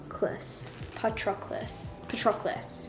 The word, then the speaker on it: Patroclus: In the book it says this. This is how you say it. Patroclus.